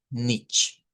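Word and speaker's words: nicht: se usa nothing y en touch usar nich, así como está acá nich. pone la pronunciación no de la ch del español, sino una ch eh que es un poco más suave, que la vamos a ir conociendo poco a poco.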